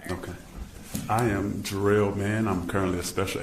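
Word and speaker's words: Jarriel: I am Jerel Man.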